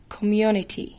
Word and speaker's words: community: لما نيجي نقري الولاد الكلمة دي، أول حاجة نعملها إن حرف السي هنا هيتنطق س ولا ك. حرف السي ما جاش مع أصحابه، مين صحاب حرف السي؟ E I Y. في هنا E I Y؟ لا. يبقى يتنطق ك، يتنطق ك.